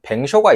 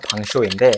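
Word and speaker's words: vin chaud: 그리고 꼭 먹어 봐야 되는 뱅쇼가 있어요. 프랑스어로 정확하게 발음하면 방쇼인데 방이 프랑스어로 와인이라는 뜻이고 쇼가 뜨거운이라고 뜻입니다.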